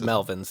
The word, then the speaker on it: Melvins: And Kevin Rutmans from the Melvins. Am I pronouncing that right? I don't know how to pronounce it. Melvins, yes.